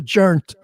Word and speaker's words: joint: watches a movie with some buddies saying the jernt he said you know I'm from Brooklyn I